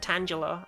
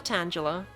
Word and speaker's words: Tangela: quad Tang or angang I've heard people pronounce it tangula and I think those people shouldn't be trusted don't you hate when you tangel up your earphones Angela Tangela I actually went to